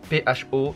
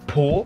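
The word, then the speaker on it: phở: Ça s'écrit P-H-O, ça ne se prononce pas po, pas faux, mais pho.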